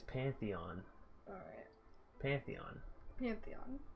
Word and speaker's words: Pantheon: It's Pantheon. Alright. Pantheon. Pantheon. Not Pantheon. Don't go. Not like put your panties on. Like Pantheon. Mm. That's how it's pronounced.